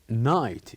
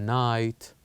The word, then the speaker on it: night: the last one Knight night here we can write down G and H as they are silent letters so now here you